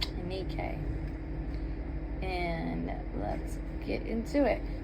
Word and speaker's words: Nike: We are on chapter 4, Claim Your Victories in Life with Nike. And the correct pronunciation, I believe, is Nikkei. Nikkei.